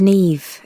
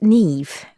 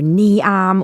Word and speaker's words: Niamh: say my arm or knee arm or it's just impossible unless you know but once you know it's easy you just say me and put a V on the end five my name is